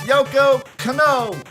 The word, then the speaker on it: Yoko Kanno: Steve Harvey even mispronounces her name. It's Yoko Kanno.